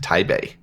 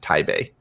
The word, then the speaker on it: Taipei: to say that it's it's technically pronounced Thai Bay Thai Bay uh-huh the people I lived in Taiwan for a couple of years when I was younger so I used to I knew used to know Chinese but it's been so long since I've actually spoken it but yeah the actual name is pronounced tae bay interesting cool little piece